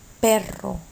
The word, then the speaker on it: perro: means purple all right if the word has two r's it would not be the first syllable somewhere within the word then you do a hard r sound like which means car perro which means